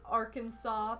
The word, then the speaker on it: Arkansas: yeah arkansas that's true why is one kansas and the other is isn't our kansas it's arkansas because they have a southern accent oh man what is